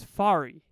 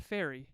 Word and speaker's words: Farry: like not like that my name is fari fari here I'll spell it for you f a r r why English teachers take note you've taught English for years where's the ey in there there's no ey I don't understand it honestly think about it